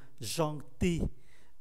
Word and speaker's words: gentil: Gai đang rất vui vẻ; Có một chữ "l" ở đó nhưng không được phát âm. Gentil chuyển thành trạng từ, chữ "l" biến mất: gentiment.